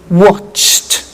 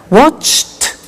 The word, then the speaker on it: watched: We don't say watched, we eliminate the E and we say watched. Okay? Interesting, hey? So look at that. Watched, danced, eliminate the E, pronounce the T. Danced, laughed, washed, and walked.